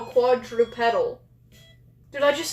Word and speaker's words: quadrupedal: Wait, a mix between bipedal and quadruple. I said it right? No, quadrupedal.